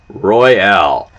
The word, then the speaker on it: Royale: Dig Daddy's 20 sack, the Purple Royale. And you got to say it like that too. It's like a Royale with cheese.